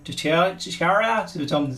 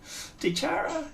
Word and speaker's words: DiChiara: It's DiChiara. DiChiara. Yeah. Depends on where you put the emphasis, right?